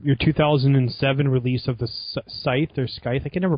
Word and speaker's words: The Scythe: 2007 release of the Scythe or Sky I can never pronounced that word right okay the S yeah we pronounce the scite but we're Italian the yeah that was